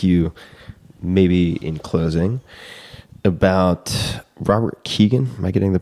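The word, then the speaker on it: Robert Kegan: love to ask you maybe in closing about Robert Keegan. Am I getting the pronunciation of that name correct? Yeah. Who is Robert Keegan?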